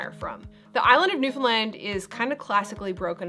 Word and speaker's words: Newfoundland: It’s not new-found-lind. It’s not new-fin-land, it’s new-found-land (rhymes with) understand?